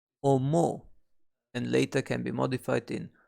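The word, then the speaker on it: 思う: To think or to consider is being pronounced as omo, and later can be modified into omoimasu, omoimashita.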